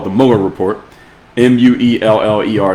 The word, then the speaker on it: Mueller: Mueller is how you pronounce his name. It sounds like Miller, but the Mueller Report.